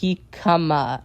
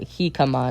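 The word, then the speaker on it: jícama: Jakima is pronounced Heikama. Okay. So, it's uh Heikama, not however I pronounced it the first time.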